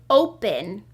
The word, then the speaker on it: open: That first syllable, O, is open, making a long O sound. And that second syllable, pen, is making the short E sound because it's closed.